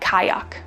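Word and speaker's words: qajaq: cards next up is q a j a q this is pronounced something like kayak and it's the Inuit word for kayak this word is probably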